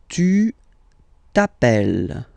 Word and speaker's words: tu t'appelles: All right, second form, tu t'appelles. Okay, remember, final s not pronounced.